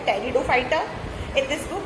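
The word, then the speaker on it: Pteridophyta: हैं, लेकिन टेरिडोफाइटा में इसमें पी साइलेंट होता है बच्चों, इसलिए टेरिडोफाइटा नहीं बोलेंगे, इसको सिर्फ टेरिडोफाइटा बोलेंगे।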